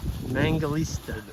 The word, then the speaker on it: Mangalitsa: How do you pronounce them? It's a Mangalitsa. Mangalitsa. They're the sheep pig. Is there a T on the end of that? Yeah, there's a T in it. Mangalitsa, I believe.